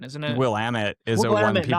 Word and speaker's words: Willamette: There's a w- w- pronunciation, isn't it? Willamette is a one Willamette, people not mess up.